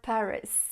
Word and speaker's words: Paris: Elle dit « J'adore Paris ». Alors attention à la prononciation, on dit « Paris », Paris. Le S de Paris est muet.